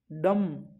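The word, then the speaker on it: dumb: blind the डम नहीं डम डम डम इसका उच्चारण होगा इसका फोनेटिक्स होगा ड अ मैं डम डम नहीं बी नहीं आएगा ओनली क्या होगा डम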